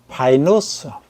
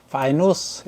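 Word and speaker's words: Pinus: 파이누스, 파이누스 이렇게 발음합니다.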